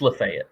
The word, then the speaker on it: Lafayette: of us in tennessee is la fete yeah las fayette or not lafayette it's life yeah it's lafayette that's that's how you say it uh please it